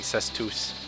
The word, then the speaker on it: cestus: weapon fish weapon now it's a cestus i believe it's pronounced i'll keep saying says tooth that was easy would